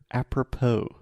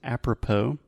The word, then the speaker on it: apropos: politics is the word apropos have you heard this before no so if something is apropos and we write this with an S so a p r o p o s if something is apropos